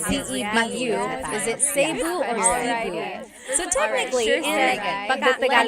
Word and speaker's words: Cebu: Is it Cebu or Cebu? So technically, in the Tagalog alphabet, the letter E can be pronounced F or the right translation.